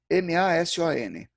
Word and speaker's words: mason: A palavra é a mesma, a pronúncia é diferente. M-A-S-O-N. Em inglês a pronúncia é mason, mas em francês a pronúncia é maçon.